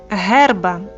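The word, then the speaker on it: herba: Буква Га, вимова Г. Наприклад, герба. Трава. Повторюємо: герба. Буква і.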